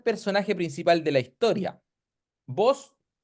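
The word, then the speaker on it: Booz: principal de la historia vos en su idioma nativo se pronunciaría algo como voas ya y Qué significa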